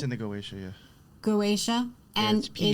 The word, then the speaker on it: Goetia: Goetia.